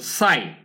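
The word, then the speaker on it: sigh: এখানে সাই মানে কি সাই মানে হচ্ছে একদম বাংলার ছাইয়ের মত উচ্চারণ সাই সাই আমের মেডিকেল জিনিস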